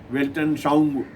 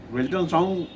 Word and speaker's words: Weltanschauung: वह नारा था वेलफेयर ओरिएंटेड वेल्टन साउंग, कल्याणोन्मुख विश्व दृष्टि। वेल्टन साउंग शायद आप पहली बार कहीं ना सुने हो। इसका स्पेलिंग है WELTANSCHAUUNG, वेल्टन साउंग।